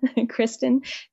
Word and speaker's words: Christin: Christen dcom and my parents spelled my name funny um when I was a little girl they wanted to make sure it had Christ in it so that's how my name is spelled Christ in c h r i s t i n Christen just like